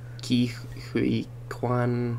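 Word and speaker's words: Ke Huy Quan: Ki Hui Kwan, that's how it's pronounced.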